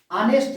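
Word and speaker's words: honest: लेकिन इसका अगर हम लोग उच्चारण करते हैं ना, प्रोनाउंसिएशन करते हैं, तो ऑनेस्ट लिखते हैं उसको, ऑनेस्ट।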